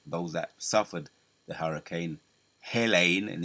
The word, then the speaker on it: Helene: That's how you pronounce it. Helene, hell, and it's hell for them.